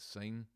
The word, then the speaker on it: sine: just looking at there the short hand is just s i n sin but we pronounce it sine and that ratio was